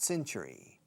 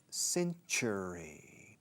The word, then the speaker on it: century: Do you know what century? 20th century fox. Do you know in what century? Fijaos en la pronunciación de century. Cen, como si fuera un S en una C al principio.